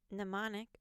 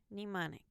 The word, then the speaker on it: mnemonic: rhyme rhetoric sellin em and em n as in mnemonic or mnemonic and silent P in PT